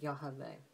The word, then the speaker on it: Yah: did with this um so I think that it's pretty uh pretty clear that that's most likely how our Heavenly father's name is would be pronounced is that yah but uh let's get